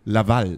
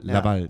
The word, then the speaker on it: Laval: Wie wird es richtig ausgesprochen? Laval. Laval.